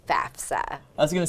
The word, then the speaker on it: FAFSA: So the way the acronym goes, it's actually FAFSA. Most people get that a little mixed up, and that's okay, we're forgiving, but it is FAFSA.